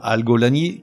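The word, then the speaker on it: algolagnie: Et enfin, algolanie, qui s'écrit comme ça se prononce, A-L-G-O-L-A-G-N-I-E.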